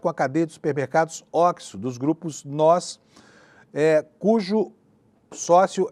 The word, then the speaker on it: Oxxo: Toda esquina praticamente tem essa rede, eles têm até uma plaquinha na fachada assim, pronuncia-se Oxxo.